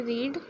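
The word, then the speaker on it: read: को क्या कहते हैं रीड डिड यू रीड रीड की सेकंड फॉर्म रेड से बोलते हैं रेड बट स्पेलिंग सेम होती है।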